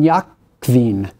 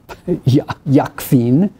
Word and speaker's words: Jacquin: I'm going to pronounce this in German because it's got a V-O-N in front of it. Von Jakwin, or I should say, von... Is that right? Yeah, von Jakwin.